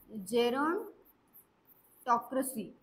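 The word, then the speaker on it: gerontocracy: next word आहे तर next word मी तुम्हाला प्रोनन्सशन सांगते कस करायचं नेक्स्ट वर्ड आहे जेरन टॉकसी ओके जेरॉन टॉकसी ही याची प्रोनन्सिएशन आहे आणि ऑप्शन डी जो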